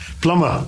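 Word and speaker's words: plumber: yes and uh just one more uh p-l-u-m-b-e-r plummer plummer though these are trivial mistakes my dear english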